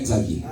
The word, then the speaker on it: Xavier: Xavier.